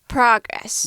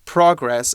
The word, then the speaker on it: progress: If we want to use it as a noun, we put the emphasis at the beginning. We say progress. Yes, progress or progress if you're speaking with a British accent. So we would say verb is progress and progress is the noun, or progress is the noun.